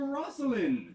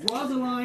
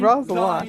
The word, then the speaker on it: Rosaline: Jesu Maria, what a deal of brine hast thou washed thy sallow cheeks for Rosalind? Rosaline. No, Rosaline. Rosaline. Thine rhymes. Exactly. It rhymes. Brian, Rosaline, thine, Rosaline. Right.